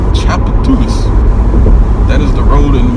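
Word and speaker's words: Tchoupitoulas: That word is pronounced Chapatulas, if you aren't familiar with it. Chapatulas.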